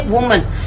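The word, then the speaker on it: women: वुमन pronounce करते हैं इसको हम विमन प्रोनाउंस करते हैं ठीक है तो इनके प्रोनंसिएशन में थोड़ा सा डिफरेंस आ जाता है फुट फुट को हम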